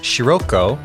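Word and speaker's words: Scirocco: it comes from a real word which is pronounced Sirocco. But in the Japanese it's Sirocco, and it's a made-up space Jupiter name. And it's spelled S-C-I-R-O-C-C-O. So we're going to keep calling him Sirocco.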